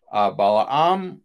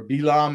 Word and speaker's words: Balaam: to briefly look at is balaam balaam or bilaam as he's pronounced the hebrew or balaam as he's pronounced in